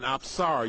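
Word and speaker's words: Apsara: And specifically, she is called an absara. You spell that A P S A R A.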